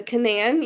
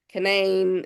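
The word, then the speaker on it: Canaan: lucky for us um the Canan you might have heard it Canan Canan Canan canine it depends on who you talk to as as to who said you know how they say it honestly um so the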